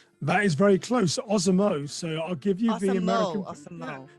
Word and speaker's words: Osamoh: That is very close, Osamoh. So I'll give you the American Okay.